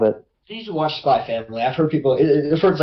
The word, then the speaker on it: Spy x Family: But I know it's not Spy X Family, John. It's not Hunter x Hunter. It's Hunter Hunter, Hunter Hunter, and it's Spy Family. There's no X.